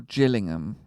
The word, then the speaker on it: Gillingham: was killing him or Gillingham yeah like the football club I'm still at 100 now you've said that it's it's killing him he said Gillian he said he did it's hard G yeah but now I've